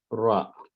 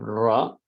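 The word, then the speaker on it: ر: Ra is a strong letter. When you pronounce it, you say ra, ra. And usually you put your tongue in this area here.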